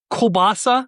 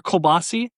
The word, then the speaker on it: kielbasa: Does it end with an A or an I? It ends with an A in real life, but the way that it's spelled online, it looks like it says kielbasi.